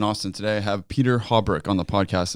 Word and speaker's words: Haubrich: Today I have Peter Haubrich on the podcast. Is that pronounced correctly? Yeah, actually, that's the first time somebody actually got it right. And people usually say Haubrich.